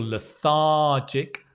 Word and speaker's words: lethargic: feel poorly I feel lethargic and remember you want to stress that syllable lethargic always do this when